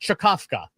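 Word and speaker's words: Czkawka: Uh the next one uh is an open source package called called believe it or not this this is pronounced chakovka uh which is Polish for hiccup.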